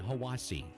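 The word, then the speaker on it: Hiwassee: minute I'm Dwayne from Cleveland Tennessee and it's pronounced Ocoee Etowah and hawasi Adam Denver asoe hawasi itoa I'm Kelsey from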